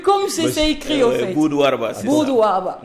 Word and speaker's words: Boud-Warba: Oui, je crois que c'est comme ça que c'est prononcé, écrit. C'est B-2-U-D. Boud-Warba.